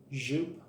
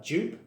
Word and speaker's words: Joop: to be talking about the infamous zup Hom OR yop hom however you want to pronounce it I always say zup especially here in the north of England we pronounce it uh jup but uh I've been told off by quite a lot of you for pronouncing it wrong so I'm just going